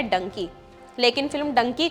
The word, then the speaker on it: डंकी: travel कहा जाता है डंकी असल में गधे डोंकी का ही उच्चारण है यह पंजाबी मुहावरे